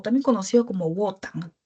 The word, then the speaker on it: Wotan: A Odín, o también conocido como Wotan. Wotan me parece que se pronuncia, ¿sí?